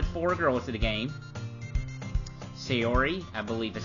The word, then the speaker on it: Sayori: Sayori, I believe is how you pronounce her name.